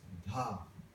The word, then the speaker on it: dha: Then syllable number 3 is dha. D-H-A. Capital D, small h, small a.